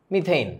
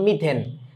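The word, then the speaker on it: methane: মিথেইন, right? হ্যাঁ, এটাকে দেখো, এই যে আমরা বাঙালি লোকজন তো ওই বাংলা ভাষণে বলাবানের মতো করে মিথেন, মিথেন না, উচ্চারণটা কিন্তু এইন, মিথেইন।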